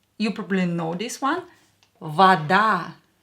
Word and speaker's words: вода: Вода. Давайте напишем. Let's write it down. And of course, it's water. Вода. Вода. Here A is stressed, so this O will be pronounced as A because it's not stressed.